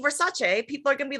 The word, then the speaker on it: Versace: And she goes, "Everyone says Versace," and she goes, "The name is Versace."